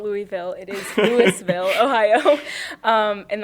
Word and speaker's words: Louisville: All right, so I'm from Louisville, Ohio. He actually asked me just before this how to pronounce it. It's not Louisville, it is Louisville, Ohio.